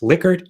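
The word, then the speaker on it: Likert: So you now know that it's pronounced liquor and now you know you should look up this guy Dan Zvinka.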